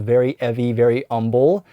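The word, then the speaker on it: Very 'Eavy Very 'Umble: This is called Very Eavy Very Umble and yes you have to say it like that because they're British so they're not going to pronounce the H's.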